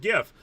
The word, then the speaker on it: GIF: is plenty there is plenty of of of support for jif to be pronounced like that just as i get why people would also pronounce it gif but i've always said jiff since i was a kid and the creator of it said jiff so that's what i'm going with and the final super chat